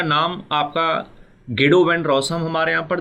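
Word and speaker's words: Guido van Rossum: Python was created by गिडो वैन रॉसम। आप यहाँ पर इस नाम को कई तरीके से प्रोनाउंस कर सकते हैं। कुछ लोग इसे गाइडो वैन रॉसम कह के चल रहे होते हैं और कुछ लोग इसे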